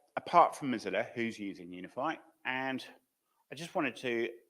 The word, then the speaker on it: UniFFI: generator bind gen so okay um and it's pronounce UniFi and unian ffi so okay so it started